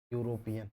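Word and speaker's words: European: इसको सही पढ़ना यह है। यूरोपियन हमें केवल पहले शब्द से मतलब है। यूरोपियन में या एक व्यंजन है।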